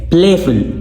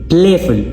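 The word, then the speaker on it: playful: प्लेफुल प्लेफुल प्लेफुल यहां पे प्ले stress syllable है।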